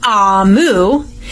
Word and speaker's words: Amu: A note to the reader, Amu, which is pronounced Amu, is the Igbo term for queen.